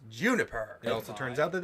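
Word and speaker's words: JNPR: up and given the team name of JPNR. Pronounced Juniper.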